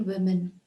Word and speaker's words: women: an extract from Little Women by Louisa May alot it's pronounced as women one woman many women women so it's Little Women